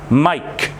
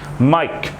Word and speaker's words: Mike: This is Mike. You don't say eh because of the E at the end. Mike. Mike.